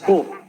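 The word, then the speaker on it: 古: Bueno, entonces el primer kanji que vemos en la parte de arriba se pronuncia ko, y ko podemos traducirlo,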